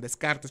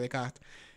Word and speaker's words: Descartes: llama rené de kart que dicen descartes que se pronuncia décadas y empieza a decir